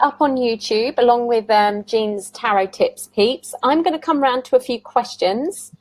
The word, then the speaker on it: Jean: If there's time at the end, I would like to hear about how I keep saying Jean because that's the way it's spelled, but it's Jean.